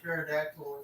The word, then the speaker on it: pterodactyl: So why can you not hear a pterodactyl if it's in your bathroom? I don't know why. Because the P is silent.